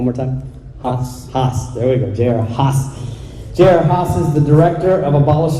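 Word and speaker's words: J.R. Haas: his name is mr j.r haas am i pronouncing that that's right say one more time there we go jer haas is the director of abolish abortion texas he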